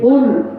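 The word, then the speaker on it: قُلْ: কুল কুল গলার মধ্যে একটু ধাক্কা দিতে হবে। কুল যদি আমরা কুল বলে ধাক্কাটা না দিই অর্থ কিন্তু চেঞ্জ হয়ে যাবে।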